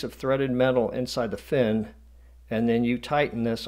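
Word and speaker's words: phin: coffee you would use this filter called a fin some people have called it a pin where the H is silent but most of the people I know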